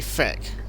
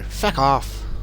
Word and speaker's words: feck: Only the Irish say it like that. Actually, no, they say feck. F-E-C-K, not even fuck. The Irish go, feck off.